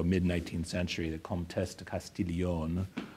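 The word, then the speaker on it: Castiglione: 19th century the contest castillion I give her the French pronunciation of her Italian name because she was she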